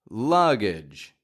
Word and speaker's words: luggage: your luggage luggage now this word's fun because it has three G's in it the first two G's combined to make a one G sound and then the last G sounds like a j like a j j here's the thing when